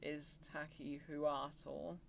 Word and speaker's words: Iztaccíhuatl: I think it's called Iztaccíhuatl. I am probably very wrong with my pronunciation there.